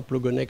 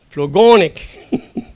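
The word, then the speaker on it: Plogonnec: Ben non, c'est pas Trégonec, c'est pas Plogonec, c'est Trégonec, Plogonec. Et si vous n'avez pas l'accent tonique, vous n'êtes pas breton.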